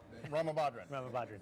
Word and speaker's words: Ramabadran: Ramabadran. There we go. I choked on it. Yeah.